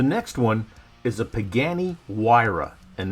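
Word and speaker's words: Huayra: one is a pagani wira and that's how the italians pronounce it and the theme is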